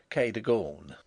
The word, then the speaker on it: Kagan: as it may appear my housekeeper was called Kagan a name made locally possible by being pronounced Kon only those who have